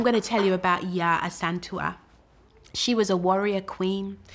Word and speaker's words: Yaa Asantewaa: I'm gonna say it right. You've got to say it with the rhythm. I am Yaa Asantewaa.